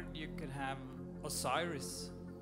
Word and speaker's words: Osiris: name before we go sorry how do you spell that o o s i r i s I wasn't listening sorry oh o o s